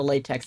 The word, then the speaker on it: LaTeX: I don't remember hearing about a latex in college. I do remember hearing about a latex at the BDSM club though. Pronounced lat which is why they chose a sussy acronym.